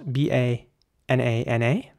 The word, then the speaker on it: banana: you pronounce that one now here it gets a little interesting because in British English it would be banana um so it would be you know all the A's are basically us banana banana banana and in American English it's quite similar actually but it's just the middle a is somehow pronounced differently so in American English